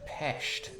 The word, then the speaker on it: Pest: Jake, it's pronounced Pest.